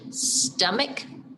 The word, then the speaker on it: stomach: what about stomach hmm it's got a different sound doesn't it stomach yeah stomach is spelled s t o m a c h stomach that would be an odd duck because the cup it kind of is the c and the h together you hear the cup right